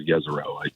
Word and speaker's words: Jezero: Well, it's actually called Jezero. Everybody pronounces it wrong, but it's a river delta